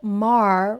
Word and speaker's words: Maher: It is me, your girl Brit Reacts, and today we're going to react to more of Bill Maher rhymes with jar.